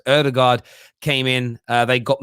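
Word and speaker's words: Ødegaard: bad when aubameyang and it's not actually older guys i think it's actually pronounced erdogard came in uh they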